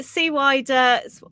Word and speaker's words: CWIDER: Yeah, SWIDER.